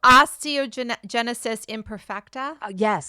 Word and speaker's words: osteogenesis imperfecta: Osteogenesis imperfecta?